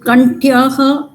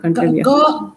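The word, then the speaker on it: कण्ठ्यः: Kantavya is sorry, Kantyah, not Kantavya.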